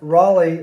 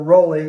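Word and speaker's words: Rolie: Now, Journey was formed in 1973, so two former members of Santana, Neil Sean and Greg Raleigh, or Rowley, but I pronounce it Raleigh, left.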